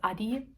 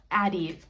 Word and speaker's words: Addi: I hate, it's actually, you know, it's a German brand, so it's actually pronounced Adi.